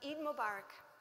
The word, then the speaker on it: Eid Mubarak: And I say, "How do you say it in Arabic?" And Tomas says, "Oh, I know where to go. I know somewhere." And Sarah says, "Eid Mubarak."